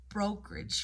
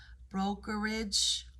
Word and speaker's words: brokerage: You can hear again, you have a syncope word where you could say it as a 2-syllable word or a 3-syllable word, depending on if you're gonna do the schwa, non-stress schwa in there syllable in the rich, brokerage or brokerage, brokerage or brokerage, brokerage,